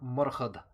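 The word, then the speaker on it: Murchad: or argue against naming your son muraha or murhad as it would have been pronounced at the time what's our other option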